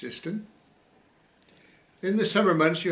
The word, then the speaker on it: Siston: The last bridge you came to was Siston Bridge, which is pronounced Siston.